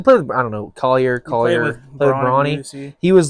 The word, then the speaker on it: Collier: Collier. He played with, I don't know, Collier.